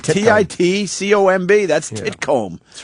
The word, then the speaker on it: Titcomb: There's no other way to pronounce that. Titcomb.